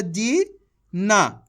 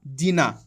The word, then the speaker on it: जीन: मात्रा जी ना जीना तो ये तो गलत होगा जीना जबकि ये लिखा हुआ है जीन तो अपन करेंगे क्या लास्ट वाला अक्षर का उच्चारण अपन आधा करेंगे उस पर आके रुक जाएंगे जीन इस तरीके से क्लियर